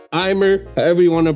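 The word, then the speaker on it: Aimer: Now, my number 5, Eme, Eimer, however you want to pronounce it, but it's French, so it's Eme, like M in Spanish.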